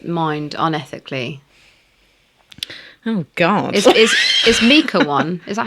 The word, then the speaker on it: mica: Is Mica one? Is that how you pronounce it? Mica?